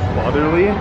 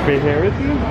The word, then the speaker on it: Faherty: I walking at first, I thought it was fatherly, but it's Faherty? Oh, I thought it was farty.